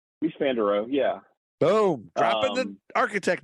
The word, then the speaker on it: Mies van der Rohe: Is it Mies van der Rohe? Mies van der Rohe.